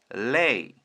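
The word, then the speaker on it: lay: 알파벳 l을 A에 Y a Y가 함께 오게 되면 AY가 오면 A 발음이 납니다. 정리하면 L 리을 AY는 A 합치면 레이 레이 이번 단어는 식물의 잎을 뜻하는 리프입니다.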